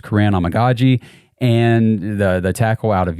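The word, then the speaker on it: Kiran Amegadjie: I'm pretty sure it's Karan Amagaji, and the tackle out of Yale.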